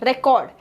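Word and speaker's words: record: शब्द D next इसे रिकॉर्ड रिकॉर्ड सो आर को हम ज्यादा साउंड दे रहे हैं रिकॉर्ड डी नेक्स्ट इसे कन्वर्ट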